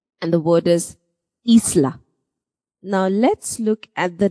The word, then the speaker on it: Isla: Isla. That's why I said double E. Isla. I is pronounced as double E. E. And the word is Isla.